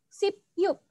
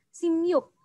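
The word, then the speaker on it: 십육: 16 itu Sipyuk, tetapi Ya. membacanya adalah Simyuk.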